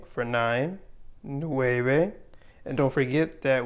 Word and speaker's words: nueve: ocho for eight ocho nueve for nine nueve and don't forget that we say this v con b with b and not a v sound so no bae no